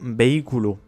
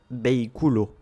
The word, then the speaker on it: vehículo: C'est le cas par exemple du mot vehículo. Si on suivait la règle, on devrait dire vehículo. Mais comme on a un hiatus avec le BI, on mettra l'accent tonique sur ce I. Vehículo.